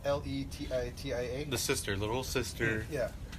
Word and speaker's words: Letitia: It's Letitia.